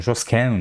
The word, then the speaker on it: Joskin: mi się bardzo podobały 19 szczególnie podobała mi się Joskin w zależności jak to wymawia od będę mówi joskin żoskę jak już tak będzie po francusku ta żoskę mi się podobała zawsze.